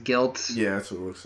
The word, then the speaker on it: GYLT: The other one was GYLT. I think it's pronounced Guilt.